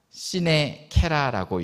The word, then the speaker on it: sine: 제가 설교 제목으로 라틴어 하나를 썼습니다. 시네라고 읽습니다.